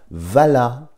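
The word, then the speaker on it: WALA: le nom du fameux laboratoire Vala qui existe encore ça s'écrit W A l a et ça c'est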